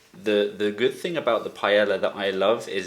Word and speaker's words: paella: to the birth village of Paella, or Paella, as the Spanish say it.